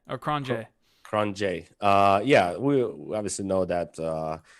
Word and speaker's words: Cronje: So really quick, Andre, how do you pronounce his last name? Cronje or Cronje. Cronje.